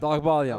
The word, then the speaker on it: Dabagalian: As Andrew Dabagalian, how do you pronounce that, Pat? Dagbalyan.